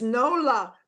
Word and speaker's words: Nola: How do you pronounce that name? Nola. It's Nola.